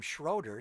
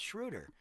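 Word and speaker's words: Schröder: He called him Schroeder. So, how well did you know your teammate, bro? It's Shruder.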